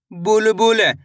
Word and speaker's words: बुलबुल: ब में छोटू उ की मात्रा बु ल बुलबुल। दोस्तों आपको करना क्या है? छोटू उ की मात्रा का उच्चारण तेजी के साथ निकालना है। यानी कि जल्दी से करना है।